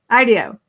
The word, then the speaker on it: IDEO: IDEO.